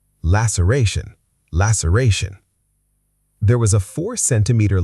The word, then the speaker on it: laceration: The C makes an S sound here, not a K. Laceration. Laceration.